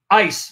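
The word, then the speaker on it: εἰς: I anticipated that he was going to appeal to the Greek preposition ace, which the way they pronounce it is ice by those who want to pronounce it like Erasmus, the Erasmian way of pronunciation, right?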